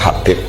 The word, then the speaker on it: Habib: Itu di harokatnya kitab itu ada yang nulis Hubab. Tapi yang benar, oh enggak, yang benar itu bacanya Habib. Habib itu As-Sulami, itu ikut marga Robi'ah.